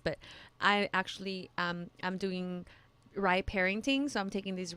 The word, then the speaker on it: RIE: I don't think I've ever shared this on the podcast, but I actually I'm doing rye parenting, so I'm taking these rye classes.